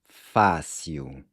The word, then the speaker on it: fácil: "Fácil" means easy and pay close attention to how the "il" is pronounced "iu" "fácio" "é" can be translated